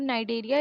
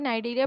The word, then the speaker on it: Cnidaria: Phylum नाइडेरिया, इसे नाइडेरिया पढ़ते हैं, सी इसमें साइलेंट होता है।